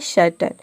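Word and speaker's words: certain: यहाँ पे हम AI को ऑ प्रोनाउंस करते हैं, तभी इसका प्रोनाउंसिएशन होता है सर्टन।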